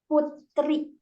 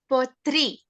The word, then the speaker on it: Putri: How can I pronounce this? Uh, Putri. Putri.